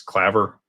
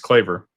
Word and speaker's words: Claver: Uh, everybody says Clever. It's It's Claver, but everybody says Clever.